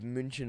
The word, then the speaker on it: München: there was this one episode of München Mord, Munich murder.